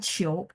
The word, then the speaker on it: 求: Nah tadi kan yao qiu itu permintaan, tapi kalau kata kerjanya adalah qiu, qiu qiu ni lah.